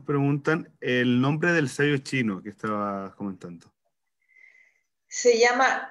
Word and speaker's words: zhi: Facebook y nos preguntan el nombre del sello chino que estabas comentando. Se llama Chi, se escribe Chiyi.